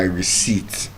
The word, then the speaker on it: receipt: So the P is silent in receipt.